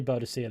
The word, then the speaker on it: Boadicea: I say Boadicea that way because that's how it's pronounced in game.